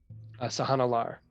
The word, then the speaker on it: Sahannalar: Sahana Lar.